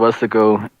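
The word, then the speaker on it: Weslaco: We're from a small town called West Laco. Westlaco, dumbass. What kind of fucking pronunciation was that?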